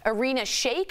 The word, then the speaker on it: Irina Shayk: According to TMZ, Kanye is spending time with Bradley Cooper's ex, Irina Shayk.